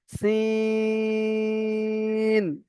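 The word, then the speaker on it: سين: দুটোর মধ্যে পার্থক্য রয়েছে, এটা সিঁড়ির মতন উচ্চারণ হবে, সিন এমন ভাবে উচ্চারণ হবে সিটির মতো, সিন।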